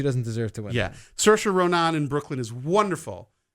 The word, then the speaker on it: Saoirse: I'm pronouncing her name wrong. No, it's actually right. Saoirse.